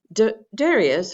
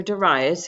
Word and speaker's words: Darius: Now, Darius, or Darius, he's named a couple of pronunciations, ruled from approximately 521 to 486 BCE.